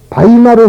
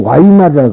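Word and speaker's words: Weimar: 이 글자를 서양 사람들은 이라고 발음이 나오지만은요, 독일 사람들은 B라고 나온단 말이에요. 서로 틀려. 비읍 소리가 나오고, 그러니까 독일 사람들은 이걸 이제 바이마르 헌법, 바이마르라 그럽니다, 거기를. 그런데 미국 사람들은 와이마르라 그래.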